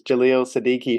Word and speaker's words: Jaleel Siddiqui: So I was just making sure I got Jaleel's name pronounced correctly, which is Jaleel Siddiqui, who we have here on the show today.